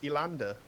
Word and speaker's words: Elander: your name young man my my name is elander sorry elander e l a